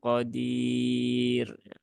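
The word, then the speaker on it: قَدِير: dia dibaca pipis ee syaaiin Qodir bukan syaaiin Qodir Nah kalau itu tebal ya Qadir dengan Qadir nah yang benar yang mana yang tipis yang pertama syaaiin Qodir Bi tapi kalau tidak wakaf nah dia baru tebal qodiru qodirun ya atau qodirun ya Nah begitu nah jadi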